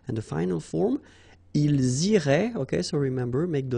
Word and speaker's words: iraient: And then if you look carefully, you've got A-I-E-N-T, okay? But then phonetically it goes like E, okay? So technically these form and these forms here are pronounced the same way, and it goes like irait, okay?